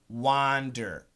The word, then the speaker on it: wander: pronunciation great question so W a and D er is an ah ah wha wander wander w om d er isn't a wonder wonder so it's the same